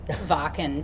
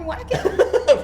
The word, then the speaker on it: Wacken: I was saying how I always mispronounce Varken to be Wacken, and Toddy was saying, it's fucking Wacken.